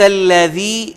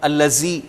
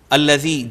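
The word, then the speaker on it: الذي: ارأیت الذی ینہا، ارأیت الذی ینہا، الذی ذال کو آپ نے انڈرلائن کرنا ہے کیوں ہم الذی پڑھ جاتے ہیں جو کہ غلط تلفظ ہے.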